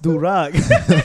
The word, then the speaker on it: durag: It's pronounced durag.